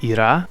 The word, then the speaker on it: Ира: Кстати говоря, Махеш, Паэль, а также их дети Виван и Ира, прямо как моя мама, только с ударением на другой слог, все вегетарианцы, как и 99% жителей Северной Индии.